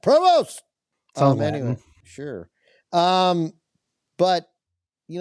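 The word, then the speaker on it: Prevost: Provest. Uh P re V O S T. Pst. Post. Provost. We'll say it like that. Provost.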